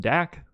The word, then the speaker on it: Dak: Dak rhymes with sack.